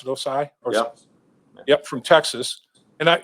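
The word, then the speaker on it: Ossai: uh osai from uh is that how you pronounce it osai yup from texas and i if i'm not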